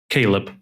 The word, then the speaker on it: Caleb: And I guess the first question again is, can you give us the proper pronunciation of the name so I don't mess it up? Yes, excuse me. Caleb.